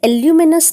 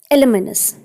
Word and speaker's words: alumnus: ठीक है ना, ALUMNUS, इसे एल्यूमिनस नहीं पढ़ते हैं, इट is pronounced as एलुमिनस। एलुमिनस means a former male student of a particular school और कॉलेज।